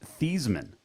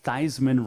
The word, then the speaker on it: Theismann: name originally it's pronounced thiesman and it was changed in college because theismann rhymes with heisman that's a good fact